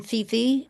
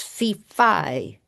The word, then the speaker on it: Fifi: My name isn't Fifi. It's Fifi. Accent second syllable.